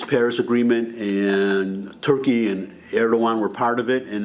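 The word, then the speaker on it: Erdoğan: It looks like Erdogan, but it's Erdogan, because that's how they do it in Turkish, when they went from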